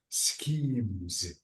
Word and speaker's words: schemes: one scho ah so the S with ch it's SC this is school so this is what schemes schemes okay schemes um